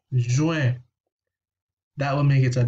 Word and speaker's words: juin: of an issue, but just pronounce the word in two parts. So divide it into two. Ju, you know that the U has a special sound, and IN has another special sound. Un. So juin, juin.